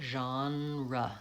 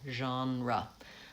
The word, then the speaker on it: genre: So Jean, the vowel is vowel genre, and then the second vowel is schwa. Stress is on the first syllable, genre.